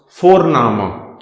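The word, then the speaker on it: Vorname: now next thing comes for nama v o r n the pronunciation of v is f for foul so for nama so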